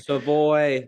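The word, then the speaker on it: Savoie: So, the French pronunciation not being the case for a kid from Alberta makes sense.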